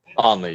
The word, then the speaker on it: Aenly: Aenly, yes.